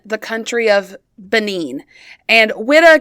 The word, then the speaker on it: Whydah: country of benine and widda guys is spelled wh y d ah so um you also could see uh frenchspeaking people spell it o UI so weda kind of weeda um but so those